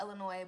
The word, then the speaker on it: Illinois: like people's con me yes I know it's pronounced Illinois but let me alone how mom has how